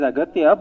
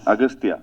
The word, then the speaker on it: Aghathiyaa: It is Aghathiyaa, but in the film your name is pronounced in different ways. Agastya. Yeah. Yeah. In both ways it is pronounced. Yeah, it's Aghathiyaa and also Agastya.